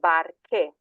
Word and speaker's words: barche: So, barca in the singular becomes barche, because you want to get that k sound.